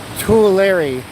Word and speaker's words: Tulare: Tulare is pronounced Tulare.